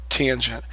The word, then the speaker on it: tangent: Co it's cosine and this is tangent short a tangent so please get very used